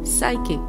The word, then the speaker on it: psychic: P is silent, the word is psychic.